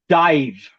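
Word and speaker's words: DIIV: So, my plug of the day is a band and I looked it up to pronounce it correctly and I'm very sure you know them. Dive.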